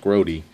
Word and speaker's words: Grote: Louis Frank group or grube I'm not sure how it's pronounced might be grube the way Jerry grote is pronounced grody so I'm going to